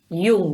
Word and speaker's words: Jung: Freud, Jung, ¿no? ¿Se pronuncia? Sí, Jung, que señor.